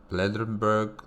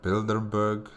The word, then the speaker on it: Bilderberg: Harbor initiative the futurist conference on nanotechnology the blurg Symposium I I butchered that name guys I'm sorry the yeah the Bild Bilderberg Symposium okay thank you for your attention how